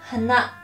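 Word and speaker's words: 花: Pag flower, hana. Pataas po, hana. Pag nose naman po ay hana. May pagka, pababa po yung pag-pronounce niya.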